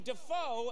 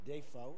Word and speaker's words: Dafoe: You've let everyone mispronounce your name for like 40 years. We've all been saying Defoe, and you've been just sitting there going like, well, I won't say anything.